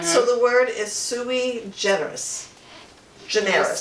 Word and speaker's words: sui generis: So the word is sui generis. Generis. spell it? Sui generis. S-U-I, and then it's G-E-N-E-R-I-S. Oh yeah, sui generis.